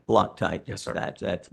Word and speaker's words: Loctite: the incident was the vendor's failure to apply low crite Loctite Loctite yes sir that's that's the way it's pronounced yeah uh threat Locker on the threaded